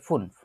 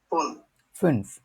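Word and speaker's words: fünf: 2কে বলে সোয়াই, 3কে বলে দ্রাই, 4কে বলে ফিয়া, 5কে বলে ফুনফ। আমরা যারা যারা উচ্চারণ করতে চাই, যাদের আগে জিনিসগুলো শেখা আছে, তারা উচ্চারণগুলো বলার চেষ্টা করব।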